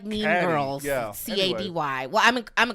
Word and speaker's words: Cady: I'll say this: Violet McGraw, who plays her niece, Katie or Katie. Caddy, or what's her name? I think it's Katie. It's Katie. Yeah, but it's spelled. It's spelled like Mean Caddy. Girls. Yeah. Cady.